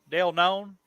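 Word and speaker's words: Dale Keown: yes yeah pit uh by no none right dale known no and that's how you say his name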